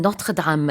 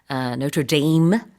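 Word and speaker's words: Notre-Dame: 그래서 프랑스에서는 노트르담 이렇게 하니까 우리도 노트르담 해도 되고 아니면은 이제 미국에서는 노트르데임 이렇게도 얘기를 하죠.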